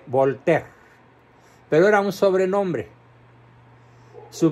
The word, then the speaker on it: Voltaire: famosísimo voltea ese que muchos no saben pronunciar porque Bueno no es obligación saber francés y le llaman voltaire bueno se escribe voltaire y se escribe volter pero era un sobrenombre